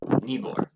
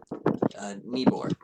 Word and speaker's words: Nibor: Nibor. What? Nibor. Can you spell that?